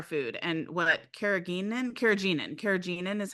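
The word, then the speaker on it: carrageenan: what's in our food and what kagin kagenin kagenin is how you pronounce it is what it actually is um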